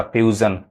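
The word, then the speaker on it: fusion: आपको सिखाएंगे बहुत जैसे एफ यू एस आई ओ एन अब यहां पे एस आई ओ एन क्या पढ़ आएगा ज पढ़ आएगा फ्यूजन ये ए साउंड तो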